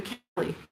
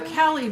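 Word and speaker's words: Caley: Thursday Night in the Cali. And the Kelly is spelled C A L E Y.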